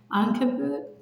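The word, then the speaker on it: عنكبوت: In Arabic, it's pronounced Ankabut.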